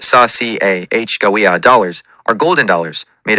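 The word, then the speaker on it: Sacagawea: The coins, the saka, pronounced sash ci ah gawa dollars, are golden dollars made of a copper core with manganese brass cladding.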